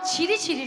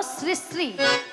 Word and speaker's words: শ্রী শ্রী: আরে মাসি, ওনার নাম ছিরি ছিরি নয়, হ্যাঁ। বলো শ্রী শ্রী। সিঁড়ি সিঁড়ি সিঁড়ি সিঁড়ি সিঁড়ি সিঁড়ি সিঁড়ি সিঁড়ি। আমি সিঁড়ি সিঁড়ি বলছি না, আমি বলেছি শ্রী শ্রী।